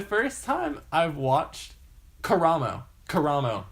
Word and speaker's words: Karamo: Karamo is how he's pronounced. Okay. So not Camaro. Yeah, it's Karamo.